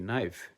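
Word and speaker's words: knife: Example আমরা বলতে পারি কে এন আই এফই নাইফ। হ্যা এ সাইলেন্ট কে।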